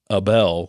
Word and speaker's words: Abel: a Rutten review from Robert Abel spelled like Adele with a B AB of the Los Angeles